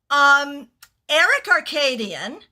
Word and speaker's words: Aerik Arkadian: So, Aerik Arkadian. Aerik is spelled Aerik.